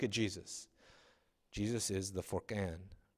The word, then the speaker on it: Furqan: Jesus is the Furqan. Is that right pronunciation? Yeah.